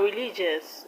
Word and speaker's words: religious: Now religious, the stress is on li. Religious, religious. Let's move on to another one.